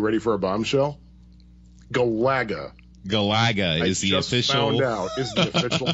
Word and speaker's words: Galaga: for a bombshell Galaga Galaga is the official pronunciation all right oh it's the emphasis is on the second syllable second saga okay and